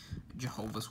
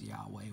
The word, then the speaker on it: Yahweh: up to you on how you want to pronounce it, whether it's Yahweh or Jehovah. I prefer Yahweh. I don't like the term Jehovah, just because, you know, Jehovah's Witnesses kind of, you know. So I personally will pronounce it as Yahweh when I read this Bible. But you can also pronounce it Jehovah.